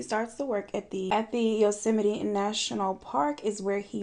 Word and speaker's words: Yosemite: Fun fact, I used to pronounce Yosemite Yosemite. And it wasn't until Travis Scott came out with Astro World that I was like, I've been saying it wrong. It's not Yosemite?